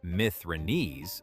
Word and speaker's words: Mithridates: Arrian says the commander Mithridates, pronounced Mithridates, surrenders the city, the Acropolis, and stored money.